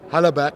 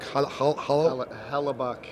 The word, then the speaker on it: Hellebuyck: Hellebuyck. Hellebuyck. The Hellebuyck. Y is silent. Yeah. It's just there to trip you up a little bit.